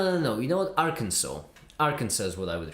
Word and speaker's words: Arkansas: You're supposed to pronounce it. Arkansas, dumb state.